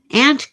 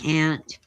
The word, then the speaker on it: aunt: Aunt Clara. Oh, I was right the first time. Or if you you pronounce it correctly, it's aunt. But I'm California born and raised. So, um I say ant film.